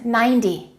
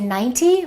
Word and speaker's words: ninety: a d right listen 90. so the rule is when we have a number that finishes with a zero usually the t y sounds like a d y so we don't say 90 we say 90.